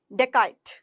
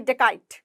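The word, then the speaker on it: dacoit: डेकाइट, डेकाइट कैसे बोलोगे? डेकाइट। देखो डेकॉइट नहीं बोलना है, डेकॉइट नहीं बोलना है, यहाँ पर ओ की ध्वनि ओ की ध्वनि कर रहे हैं, डेकाइट।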